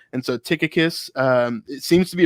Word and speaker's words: Tychicus: think it is pronounced tychicus um just like we see with um with a lot of other ch words at that time it was like it was like a k sound and so tychicus um it seems to